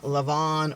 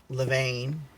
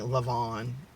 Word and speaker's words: Levain: a cookie okay and it's from lavon or levine depending on how you want to pronounce it i pronounce it levane some people are saying love on i don't know why um if you're new